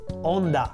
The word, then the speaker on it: Honda: famous Japanese car brand Honda we pronounce it onda just like the wave in the sea which in Italian is Honda but I digress back